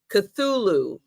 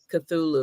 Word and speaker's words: Cthulhu: Cthulhu. All right, that's how you say it. Cthulhu.